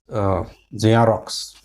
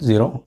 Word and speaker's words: Xerox: It's zero. Zero. Xerox. Not zero. Xerox. Xerox.